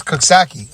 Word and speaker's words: Coxsackie: and hard oh yeah hard a soft sack yeah this is Coxsackie I was teaching everybody how to pronounce it hard soft sake there you go I think that's how you pronounce it sake all right